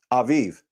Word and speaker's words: Aviv: What I'm saying is the way how we pronounce it is A-V-I-V. It's pronounced A-V-I-V. Aviv.